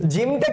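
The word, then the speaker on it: ج: হবে স্যার শক্ত হবে জিম উচ্চারণ কি হবে শক্ত করে উচ্চারণ করতে হবে শক্ত হবে জিমটা কি হবে শক্ত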